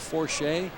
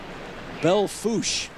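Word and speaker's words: Belle Fourche: It was Belfourche? Not even close. No. Belfouche.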